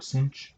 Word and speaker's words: sinh: It's hyperbolic cosine, hyperbolic sine, pronounced cosh and sinh.